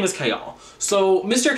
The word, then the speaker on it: Chaol: to not kayle k all his name is chaol like that's what pronunciation guide says i listened to the audiobook for like three seconds before i returned it his name is chaol so mr k all he was out here nesrin love nestrin irene